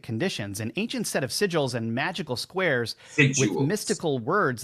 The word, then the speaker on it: sigil: So, oh no, it's s i g i l. Sigils, not sigual.